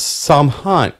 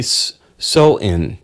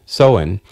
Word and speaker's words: Samhain: date back to ancient Celtic festivals known as saman saman saman um it's pronounced actually soin soen um I never heard of that word before